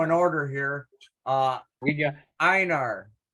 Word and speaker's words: Einar: We got Einar. How do you pronounce that? It's Anar. Einar.